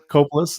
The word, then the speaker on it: Kopulos: And I'll just let everyone know we are interviewing Kopulos, as I'm pronouncing that correctly. Kopulos Kopulos. is Kopulos.